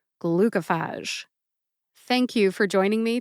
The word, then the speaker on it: Glucophage: for further clar ification I have heard glucophage pronounced glucophage as well I just wanted to double check my facts so I called and I got my answer glucophage is how the drug sponsor calls it therefore I'm going with glucophage again the spoken pronunciation is glucophage thank you for joining